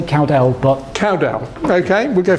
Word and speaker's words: Cowdell: How do you pronounce it? Either. You don't mind. I say Cowdell, but...